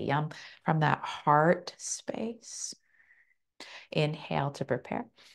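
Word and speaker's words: yam: It's spelt Y-A-M, but we say yum.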